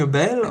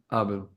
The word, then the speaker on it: Abel: By the way, my name is Abel, not Abel. So Thomas is right in that. Yeah, but oh, I'm saying it wrong? Yeah, Abel? Abel. Yes, that's correct. Abel.